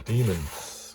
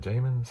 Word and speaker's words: Daemons: The Demons, or the Daemons. I think it's pronounced, I think you just say the Demons, don't you? But for a long time I thought it was the Daemons.